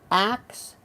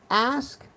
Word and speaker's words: ask: your intelligence, the moment someone says acts instead of ask, the respect evaporates. It's 3 letters, not complex. Why this simple mispronunciation continues is beyond me. For the love of God, just say ask. When you say acts, it's over.